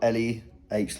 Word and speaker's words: Leh: It says I got laid, but it's spelled L-E-H like when I was in Leh.